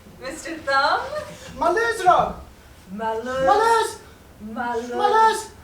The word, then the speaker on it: Maluz: Maluz. Maluz! Listen carefully. Maluz! Your pronunciation is poor, Mr.